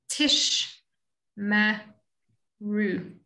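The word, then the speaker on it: תשמרו: And the first shva is just ending off a syllable. So it says tish. And then the next one is giving voice to the mem. Tish, ma, ru.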